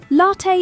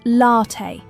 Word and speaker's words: latte: Latte is usually pronounced latte with the stress on the first syllable in British English and often latte in American cafes.